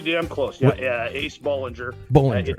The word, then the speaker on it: Bollinger: Bollinger. It is B-O-L-L, but it's pronounced B-A-L-L kind of.